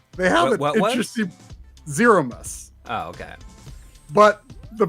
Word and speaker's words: Zeromus: very end but they haven't let's just see Zero must oh okay but the pronunciation is rather interesting it's zoromis wow which I I can I can accept